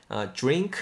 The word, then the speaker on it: drink: Drink something warm 발음하실 때 드링크라고 발음하시기보다는 그래도 기왕이면 drink. DR은 약간 우리말의 지읒 사운드 정도로 가봅시다.